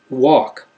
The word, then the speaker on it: walk: Talk, walk, short A sound but no L sound.